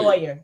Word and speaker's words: lawyer: First 48 right and you still don't say lawyer lawyer please one word one word it's just one word two syllables La lawyer that's it lawyer so that's my thing